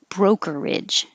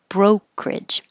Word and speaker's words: brokerage: This one can have 3 syllables or 2 syllables. So you can say brokerage or drop the middle one and say brokerage. 3 syllables, brokerage, or 2 syllables, brokerage.